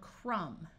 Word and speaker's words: crumb: this lesson is optional if you have MB at the end of a root word the B is silent like in the word crumb but sometimes the B